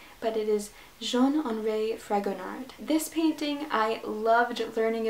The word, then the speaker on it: Jean-Henri Fragonard: Number 5 is The Swing, and I am totally going to butcher the French pronunciation of the artist's name, but it is Jean-Henri Fragonard.